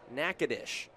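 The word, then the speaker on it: Natchitoches: And the city of a very similar spelling in Louisiana, just south of Shreveport is Nacadesh. Almost spelled the exact same way, but a completely different pronunciation.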